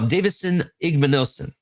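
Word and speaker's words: Davison Igbinosun: Um I'm going to talk about uh Davidson Davidson Igmanosen.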